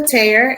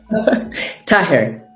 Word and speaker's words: Taher: Welcomes Taher.